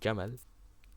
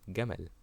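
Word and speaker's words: جمل: The most famous one is how Egyptians pronounce the letter jim as a g sound. Instead of saying jamal, a camel, it is gamal.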